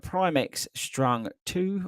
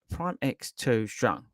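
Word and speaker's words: PrimeX 2 Strung: up we have um the primx strung two or prime prime X2 strong is the right way to say it uh which um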